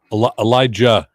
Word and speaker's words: Elijah: carrier okay Greg there's Elijah Elijah Elijah you pronounce the J yeah yeah they don't